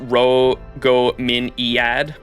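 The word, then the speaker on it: Rhongomyniad: Feel like I need to say the lance is pronounced Ro-Go-Min-Iad. I just say it the way I hear it pronounced in game from Kawasumi's like pronunciation of it in her NP. Or that's why I pronounce it the way I do.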